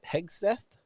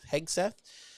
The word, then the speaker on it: Hegseth: new SEF The Honorable heg heg Seth I think is how you say his name heg Seth um was it was